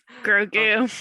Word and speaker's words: Grogu: Grogu.